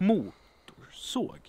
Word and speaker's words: motorsåg: Motorsåg. Motorsåg. Motorsåg. Motorsåg. So the second syllable here is totally unstressed. You could almost leave it out and you will still be able to recognize the word.